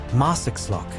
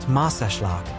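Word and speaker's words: Marsaxlokk: Next up, Marakllock, pronounced Marashlak. Bless you.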